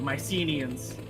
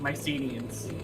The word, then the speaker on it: Mycenaeans: some annoy some people the Mycenaeans it's pronounced yeah because some people get really upset if you save my scenes oh was I saying it wrong then no you're saying it correctly oh I was just